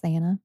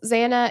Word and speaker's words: Xana: You want to tell us about Xana? Yes. Xana, who I love this, she would tell people that her name was spelled like Xanax without the X at the end.